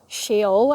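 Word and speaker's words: Sheol: Um, and he says, I don't remember exactly how it says it, but he's talking about shaol, I think is how you say it.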